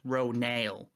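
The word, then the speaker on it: Ronal: new character, we've discovered that it is actually pronounced Ronail, which is kind of strange, but I guess she's a Na'vi character and they pronounce things differently from us.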